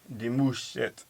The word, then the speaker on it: Demouchet: We don't have two T's. No, the M-U-C-H. Demouchet.